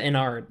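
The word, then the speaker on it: Ennard: I saying it wrong it's it's spelled e n n a r d how is that inard not inard not n it's hard to say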